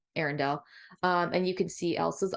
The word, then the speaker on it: Arendelle: Arendelle. Arendelle.